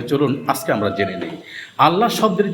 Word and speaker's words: আল্লাহ: এই লামটার ডান পাশে যদি জের থাকে তাহলে সেই আল্লাহ শব্দের লামের উচ্চারণ পাতলা করে করতে হয়।